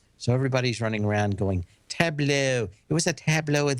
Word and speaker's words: Tableau: It's actually how you pronounce it, Tableau.